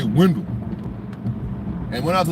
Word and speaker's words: Wendell: So Wendell is actually a German name. And in German, it's pronounced Wandel.